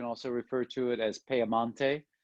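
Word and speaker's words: Piemonte: let's start with uh piedmont uh or you can also refer to it as pearmonte which is the way it's it's pronounced in italy it is at the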